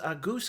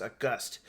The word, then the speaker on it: Auguste: Before we get started with this episode, I wanted to note that the AI used in this conversation pronounces a goose character as August.